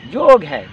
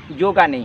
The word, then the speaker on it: योग: ऐसे ही जो इसका सटीक उच्चारण है ये योग है, योगा नहीं है।